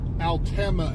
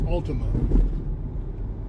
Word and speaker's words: Alma: so here we're on Alma Avenue which you know any Outsider would look at the word and say it's Ultima yeah cuz it's almost spelled like Ultima this little there's Thrift